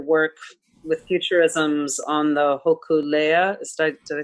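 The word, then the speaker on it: Hōkūleʻa: your uh your work with futurisms on the hokulea is did i say it right yeah i've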